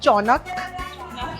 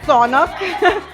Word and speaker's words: sonak: जब मैं गोवा आई थी, I used to call it चौनक. And the Goans give me one slap and it's sonak.